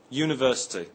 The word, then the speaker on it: university: look at the word university we say AG university not an university the word university begins with a U but is pronounced with a Y sound at the beginning other examples are a